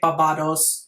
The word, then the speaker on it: Barbados: amanda trout who is on barbados i think that's how you say it in english or maybe there's a difference between british english and american english i think in germany we say babados so there you go